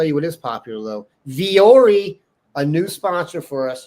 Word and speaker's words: Vuori: But I learned it's pronounced Vori.